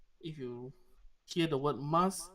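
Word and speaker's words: ます: If you hear the word mas, it's not masu. It's not masu. It's mas. MAS. The U is silent.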